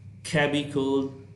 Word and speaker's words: chemical: Next, CH is pronounced as K, as in chemical, chemistry, choreography, chronology, chronic.